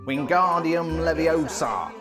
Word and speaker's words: Wingardium Leviosa: Wingardium leviosa.